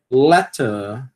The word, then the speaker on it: letter: Não vai aspirar, por quê? Porque está no final de uma sílaba tônica, né? A gente aspira o t quando ele está no início de uma sílaba tônica, né? Mas se estiver no final de uma sílaba tônica, não aspira. Letter.